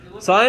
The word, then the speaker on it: sine: This is how you pronounce this. You pronounce it as sine, just like you're signing something, or you see a sign on the street.